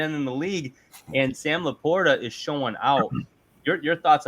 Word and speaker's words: LaPorta: Sometimes when they pronounce his name a little different on some of these broadcasts, Laporta. You hear this on some of it? No, it's Laporta, man.